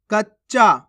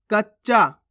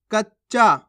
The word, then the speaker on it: कच्चा: जज्बा जजबा नहीं जजबा कच्चा कैसे पढ़ेंगे कच्चा कचा नहीं कच्चा खत्म कैसे पढ़ेंगे खत्म